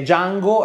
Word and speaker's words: Django: si chiama e dice django e allora nero chiede sai come si scrive dj anni o la di e muta e franco nero risponde